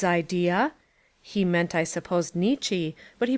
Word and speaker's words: Nietzsche: from oberlin but doesn't that precisely correspond with nitch's idea he meant i supposed nietzsche but he pronounced it to rhyme with of the dominance